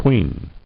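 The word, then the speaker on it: quean: u q q-u-e-a-n and how is it pronounced that's what i want to know queen okay pronounced the same as q-u-e-e-n a woman regarded as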